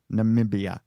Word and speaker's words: Namibia: Namibia.